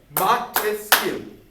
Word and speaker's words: Montesquieu: Okay, Montesquieu. How many syllables? Montesquieu. 3.